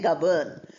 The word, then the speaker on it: govern: Then here the last word has N in the middle because it's the word govern. When you use the verb form, N is pronounced. We say govern, n.